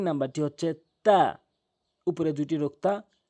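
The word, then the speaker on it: ت: মনে রাখবেন কথাটি আমি কি বলছি, জিহ্বার আগাটা নিয়ে উপরের সামনে ২টি দাঁতের গোড়াতে লাগাবেন জিহ্বার আগাটি, তাহলে তা শুদ্ধ উচ্চারণ হবে।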